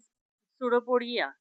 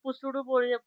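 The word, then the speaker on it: pseudopodia: Now organ of C question, organ of locomotion in amoeba is सुडोपोडिया. सुडोपोडिया spelling काय, सुडोपोडिया. पुसुडोपोडिया वाचायचं नाही.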